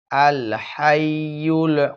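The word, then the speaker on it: الحي: লা ইলাহা ইল্লাহু আল হাইয়ুল কাইয়ুম আল হাই হা হা শব্দটি সকলেই শক্ত করে উচ্চারণ করবেন আল হাই আল হাইয়ুল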